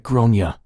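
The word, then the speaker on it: Gráinne: "Well," I said, "in Ireland, it's usually pronounced something like Gronia."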